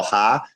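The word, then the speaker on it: ห้า: The word five means ha, or that's how you say it in Thailand, right? So ha.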